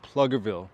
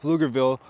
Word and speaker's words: Pflugerville: And maybe you came across this fascinating city called Pluggerville. Well, first I have to tell you it is not pronounced Pluggerville. It is actually pronounced Flugerville. The P is silent.